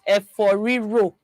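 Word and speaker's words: efo riro: Eforiro. Eforiro is a loved dish that is widely consumed in what state? Eforiro. There's no option for Or did I say that right? Eforiro yes, you said it right.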